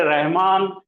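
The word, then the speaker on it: الرحمن: इसी तरह से आपको याद होगा सूरह रहमान, रहमान बोलिए, रा पहले है, अल्लाह ये, और रहमान हो गया, अल कहां गया? तो अल ड्रॉप हो जाता, प्रोनाउंसिएशन में से लिखा जाता, उसको लिखते हैं, प्रोनाउंसिएशन उच्चारण नहीं करते, उसका तलफ़ुज़ नहीं करते, लेकिन लिखते।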